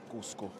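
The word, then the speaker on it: Coosco: But it's spelled differently. C-O-O-S-C-O. Cusco.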